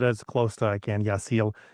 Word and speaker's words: Yaxel: Yasil is what I've heard from other Spanish speakers.